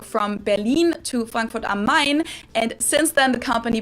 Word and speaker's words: Main: berlin to frankfurt on mine and since then the company produced a lot of successful oh yeah i forgot franklin i would say frankfurt on main but it's mine oh my god bro